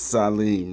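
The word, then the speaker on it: צלם: And you see in Hebrew, Sadi, Lam, Mim, pronounced Salim, almost like Salem, but no, it's a TS, so it's Salim, right?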